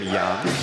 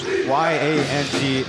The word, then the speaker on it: Yang: That's why his last name pronunciation might be different. In Taiwan, we pronounce that his surname Yang, but of course, for you Taiwanese viewers or Mandarin-speaking viewers, Y-A-N-G is to English speakers, for the most part, Yang.